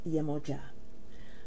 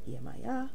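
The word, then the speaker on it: Yemọja: first and foremost is yamoja as many of you will pronounce her name as yamaya yamoja is not a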